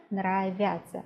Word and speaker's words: нравятся: The pronunciation is almost the same. Нравится, нравятся. The spelling is different, but when we pronounce, sometimes we don't hear any difference at all.